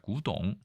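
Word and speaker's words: 古董: 있지만 현대 중국어에 의하면 이 고와 골 모두 구라고 해서 성조까지 완전히 똑같습니다. 그래서 일부 중국 사람들이 이거를 발음만 듣고 였는지 모르겠지만 이거를 뼈 골자로 써서 어차피 발음이 똑같으니까요. 구동 똑같습니다.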